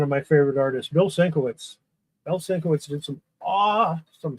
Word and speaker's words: Sienkiewicz: Another one of my favorite artists, Bill Sienkiewicz.